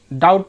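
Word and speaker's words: doubt: ई बी T date डाउट डाउट में भी हमने डी ओ यू बी T spelling देखा लेकिन डाउट पढ़ते हैं इसी तरह थम कोम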